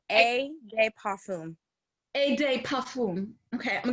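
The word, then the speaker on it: eau de parfum: So Parfum is how you say it. A de parfum.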